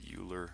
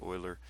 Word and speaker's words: Euler: was Leonard Euler Euler is spelled some people pronounce that Euler I say Euler and E equals this number it's 2.71828 and